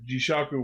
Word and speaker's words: Jishaku: Magnet World, or rather Jishaku World. That is the pronunciation.